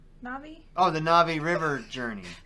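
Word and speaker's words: Na'vi: So my number 2 is Ravi River Journey. Am I saying it right? Navi?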